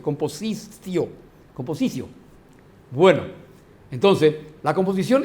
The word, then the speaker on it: compositio: La compositio se escribe y se lee composicio. En la pronunciación romana no se dice compositio, se dice composicio.